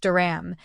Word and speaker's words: dirham: since the symbol for the UAE Duram is pronounced Duram and its subdivision is the Phils one Duram